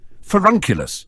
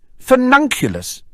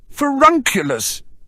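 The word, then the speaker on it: Furnunculus: it right aren't I forunculus pansy said sounding it out phonetically finunculus you're adding an extra in millison said frowning as she listened to him furun not fur none Daphne giggled fernan sounds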